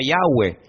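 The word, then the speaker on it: Yahvé: y he Bad he verdad ese nombre se pronuncia yahwe Ese es el nombre que aparece en el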